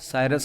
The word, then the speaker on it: cirrus: एक तो है साइरस, इसको आप साइरस बोल सकते हैं, CIRRUS, साइरस वाले बादल।